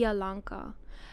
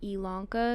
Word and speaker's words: Elanka: from like ilanka um so you actually pronounce it in my language I alanka um so a lot of people have difficulty with the pronunciation of it and so I just started going by ilanka because it's just a lot easier for you guys to pronounce so and then they